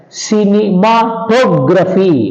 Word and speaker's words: cinematography: For example, you see democracy, hypocrisy, cinematography, understand. So all these words take stress on the 3rd syllable from the end.